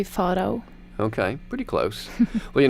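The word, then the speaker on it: Farao: In Norwegian, it would be Faro.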